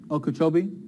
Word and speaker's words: Okeechobee: that be I'm not sir Okeechobee thank you look at the difference there it's